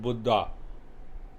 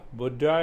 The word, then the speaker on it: Buddha: to the highest state he was named buddha not buddha not buddha you know the way we pronounce in in our country that means old buddha it is not buddha buddha it is buddha the awakened state so the intellect plays